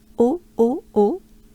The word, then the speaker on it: Eau: Eau, a kind of a easy way, easy pronouncing. Eau. Again, don't pay attention to the spelling, please. Very confusing, right? It just sounds like O.